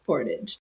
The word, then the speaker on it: portage: We love gentle corrections and criticisms, and from now on, we'll pronounce it portage.